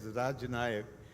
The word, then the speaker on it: Rajanaka: venerable title Raj nyak I'm sorry I'm pronouncing it as raj Nayak because in the morning I spoke to a to a professor of kashmiri Chism based in Delhi and he said that it is Raj Nayak which means I will